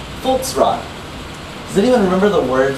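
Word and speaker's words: Volksraad: The V is pronounced with an F. So it still sounds like field, right? It's Feld, except you spell it with a V. And that thing is consistent. You have Volksrad. It has a V instead of an F, but it sounds like an F.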